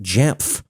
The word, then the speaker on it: Jamf: a cloud architect at J I know J sounds like I'm trying to pronounce letters that are designed to be silent but no no it's four letters J MF J Levi thanks for joining